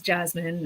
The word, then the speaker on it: Jessamine: small child in which i've been telling people to say it's jasmine even though it's clearly spelled like jessamine because my my parents